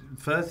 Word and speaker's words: Firth: mean I mean it fth is not an easy one outside English speaking world because it sounds like a grunt particular on the phone it's a single syllable thing with kind of soft consonants and so it sounds